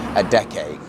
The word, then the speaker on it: Adeje: It's actually pronounced Adeje. So we're in Adeje now.